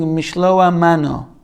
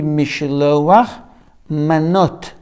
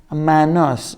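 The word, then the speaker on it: משלוח מנות: Some say it incorrectly, saying Mishloa mano. Mishloach, there's no words like that. Mishloa mano. Should be Mishloach manot. Or, the Ashkenazi accent, manos, because they are pronouncing the less tough in this word manot when there is no dat in it, which is called dagesh, as sa.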